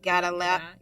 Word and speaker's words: Gadalla: Gadalah. These people have they have really eccentric ass names, but his first name is spelled Moustafa, last name Gadalla.